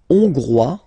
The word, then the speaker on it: hongrois: La Hongrie, hongrois, hongroise. Okay, hongrois, grois, hongroise. Okay, so here, final S not pronounced for the masculine form, and then you pronounce it here for the feminine form.